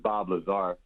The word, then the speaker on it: Bob Lazar: He pronounced his name wrong, but it's Bob Lazar.